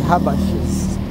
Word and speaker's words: Habesha: Those are the Habashas. Habeshas. You know, in some parts of South Sudan, they do pronounce it as Habash.